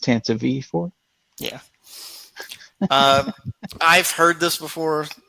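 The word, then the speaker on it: Tantive IV: I'll flex some Star Wars knowledge and tell you that it's pronounced Tanta V4.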